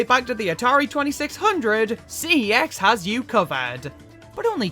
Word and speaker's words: CeX: to Mafia 3 that's just Unholy watch us CeX or sex as their official adverts claim it's pronounced you can't try and lure in Gamers